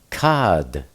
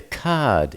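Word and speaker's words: כד: In the Aramaic Hebrew, that's cad. The cad is shattered. Caf dolllet. Cough is pronounced k. Dallet pronounced d. Cad. Uh, cough.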